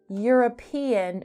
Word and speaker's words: European: Now, European begins with an E, which is a vowel, but it does not have a vowel sound. It has a consonant sound. The word European has a Y sound, much like year or you.